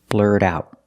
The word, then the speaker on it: blurt out: out whatever you're thinking we see that t in blurt is pronounced as a fasty because it's after an r and before a vowel blurred out the T and out is a stop T because it's before a consonant blur it out whatever